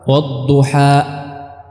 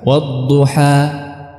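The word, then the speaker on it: والضحى: Kita menghabiskannya bukan dengan menutup pita suara. Wadduha, tidak, bukan ditahan tapi dihabiskan. Wadduha, ya. Wadduha, ya. Bukan wadduha.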